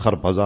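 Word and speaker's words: خربزه: ہے نا، فارسی میں اس کا تلفظ خرپزا اور ترپزا، وہ آئے تو ان چھلکے کیا کیا انہوں نے، کھانے لگے خربوزہ اور چھلکے مجھے مارنے لگے.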